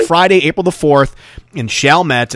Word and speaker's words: Chalmette: Chalmette, to be exact. I believe that's how they say it. Chalmette.